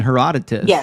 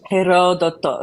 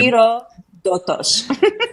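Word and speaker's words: Ηρόδοτος: dead as well in Heroditus, an actual historian. So, I have his writings. Mhm. I mean, Jesus is hardly unique here. Oh, and baby, it's Herodto. Oh, sorry. Hiro doto.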